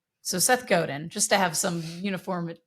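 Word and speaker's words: Godin: Goden. Goden. Thank you. But that may not be right. Okay. That's how it looks to me, but it may not be right. So, Seth Goden just to have some uniformity.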